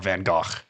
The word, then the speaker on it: Van Gogh: you know everybody knows uh Van Go right or Van Go if you want to pronounce it French correctly um um people who